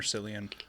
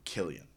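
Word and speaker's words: Cillian: very first one, is it Killian or Silian? I think it's always been an argument. I think it's actually annunciated Killian. Okay. Yeah. um or pronounced Killian.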